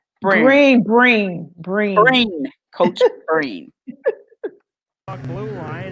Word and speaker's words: Breen: So we will be right back up after this with Coach Brent. How you say his name? Brent. Breen.